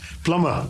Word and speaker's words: plumber: And just one more uh pl l u m b e r plumber. Plumber and not plumber.